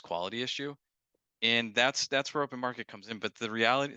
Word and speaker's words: OpnMkt: Where do you want to point people to connect with you, learn more about open market, what have you?